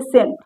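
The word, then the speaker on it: scent: सी के पहले जहाँ पर भी यस आएगा वहाँ पर सी साइलेंट होगा। देखते हैं एग्जाम्पल से, जैसे सेंट, इसको सेंट पढ़ते हैं तो यहाँ पर सी का कोई रोल नहीं है, यहाँ पर सी साइलेंट है।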